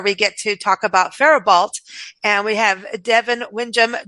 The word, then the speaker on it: Faribault: Faribault it's pronounced Faribault. A lot of people pronounce it Faribault. The T is silent at the end, coming from our French-Canadian history in this area.